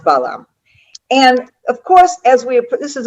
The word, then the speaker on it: Balaam: Okay, in Hebrew we say Bilam. In English, I believe it's pronounced Balaam.